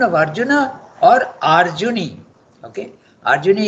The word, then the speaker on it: Arjuni: Okay, Arjuni is the son of Arjuna, so you have to pronounce it Arjuni. It becomes the, it takes a vriddhi.